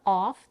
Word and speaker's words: of: Then we reduce the off to of and link it to the next word, fresh. Although the preposition off is spelled with an F, it's often pronounced with the V, of.